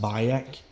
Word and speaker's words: Bayek: If you don't know what I'm saying, it's pronounced Bayek, and it's spelled Bayek.